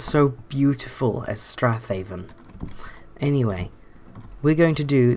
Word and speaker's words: Strathaven: down here we have Strathaven which apparently is pronounced straven but I refuse to believe that that's no and several more knows it's Strath hav come on it sounds so beautiful as Strath Haven anyway we're going to